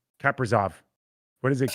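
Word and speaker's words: Kaprizov: i would have been kippersoff he's real kippersoft he is i don't know if that's the right pronunciation is it no it's not it's not no it's uh it's uh kappazov what is it it's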